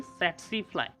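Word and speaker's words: tsetse: टी सेट्सी फ्लाई मत पढ़ना, टी जो है वो साइलेंट है, यहाँ पे सेट्सी फ्लाई जो है वो एक वेक्टर की तरह काम करता है।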